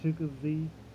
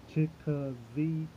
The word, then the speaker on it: Chicozie: It's Chica Z, like Chica Z. I broke it down so people can understand how to pronounce it. My last name, and that's it. So I'm thinking of syllables right now. So I've broken down into 3 syllables.